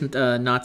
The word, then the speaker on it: Notte: Actually, her name is Not. I should pronounce her name Not.